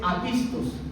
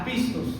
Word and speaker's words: apistos: Un incrédulo, la palabra es apistos, acento en la primera A, apistos.